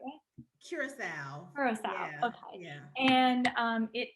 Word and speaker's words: Curasalve: it am i saying it the right way curacao okay yeah and um it is an organic